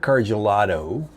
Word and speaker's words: Karjaluoto: So, Eric Karjaluoto, did I pronounce that right?